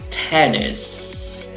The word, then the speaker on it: tennis: También la palabra tennis. Acá volvemos a lo acentuado, no acentuado. La primera sílaba está acentuada y la segunda no, pero ojo, tiene una I corta.